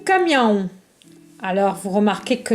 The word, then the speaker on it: caminhão: O caminhão. Alors, vous remarquez que le A avec la tilde se prononce en. O caminhão.